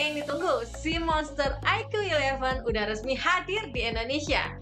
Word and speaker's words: iQOO: Nah IQ ini adalah sub-brand dari Vivo. Dibacanya IQ ya.